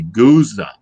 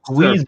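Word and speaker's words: gueuze: more variable than a goose or a goose. Or a goose. I've heard it pronounced Guiza. I'm going with Guiza.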